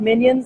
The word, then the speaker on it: MinION: It's spelled like Minions, like the movie. but we kind of look like Minions, so that's we're like little appropriate. Minions, but it's actually MinION, because it's ionic flow cell for being able to